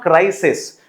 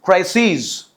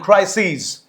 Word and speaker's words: crises: So the pronunciation is not crisis, it is crises. Okay, bases, theses. Make sure that you remember the right pronunciation. All right, so crisis and crises.